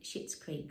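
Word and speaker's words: Schitt's Creek: spell it out it's he stars in shit's creek which is s-c-h-i-t um he's the dad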